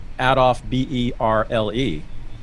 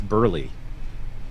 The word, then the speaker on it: Berle: I always said Adolf Berle. It's Burley. I was going to say Burley, actually.